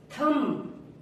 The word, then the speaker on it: thumb: थम, THUMB, थम। थम्ब नहीं बोलेंगे इसको, थम।